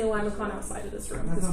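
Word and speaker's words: limaçon: say it, there's like I say limacon because I like to just pronounce things phonetically. I think it's technically limason, and there's an accent with the C, but I don't know how to draw it.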